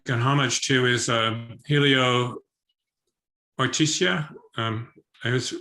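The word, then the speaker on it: Oiticica: Another really interesting artist here, which you directly make an homage to, is Helio Ortizia. I always mispronounce his name. It's Ortizia.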